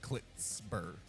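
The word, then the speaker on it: Pritsker: I think he said like it's like a Tz sound more than a C. It's like Clitsper.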